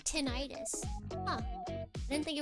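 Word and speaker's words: tinnitus: Tenonitis. Maybe it's just everywhere. Tenitis. Tin. 10. 10 is correct. Yeah, the ringy ear thing. Tin itis.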